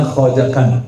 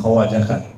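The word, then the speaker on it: Khwajagan: Khatam sebenarnya bacanya khajakan bukan khawajakan.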